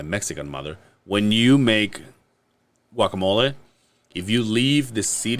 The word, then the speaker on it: guacamole: But when you make guacamole, you can kind of be like, oh, let's make it a little how you say it.